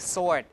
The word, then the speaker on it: sword: s before W so words like sword s w or r d you don't pronounce the W like that okay so here you